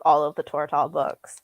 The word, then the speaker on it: Tortall: I was actually just thinking I should reread like all of the Tortall books. How do you pronounce that? Because I always said Tortall, but I was like, I feel like that sounds awkward.